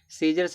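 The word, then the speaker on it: scissors: सीजर्स में देखो सी क्या है?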